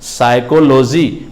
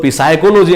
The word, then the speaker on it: psychology: गौर करोगे तो PSYCHOLOGY साइकोलॉजी को हम लोग पिसाइकोलॉजी नहीं पढ़ेंगे, साइकोलॉजी पढ़ेंगे। हिंदी होता है इसका मनोविज्ञान। और क्या कहता है कि P मेरा यहाँ पे साइलेंट लेटर।